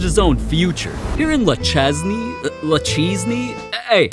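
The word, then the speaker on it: Le Chesnay: Here in Lachesney, hey, how do I pronounce this? It's Luchene.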